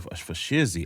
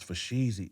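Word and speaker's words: fo' sheezy: And next thing you know, the boy I was saying for Shizzy. I was saying for Shizzy. Like I said it wrong. I was saying it wrong. So Bart just but it's for Sheezy, E.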